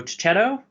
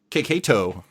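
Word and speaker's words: Checchetto: Chip Zdarsky, Marco Cicchetto. Keketo, actually. Keketo.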